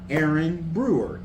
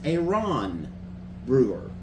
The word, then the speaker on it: Aaron Brewer: It is not Aaron Brewer. It is a Ron Brewer.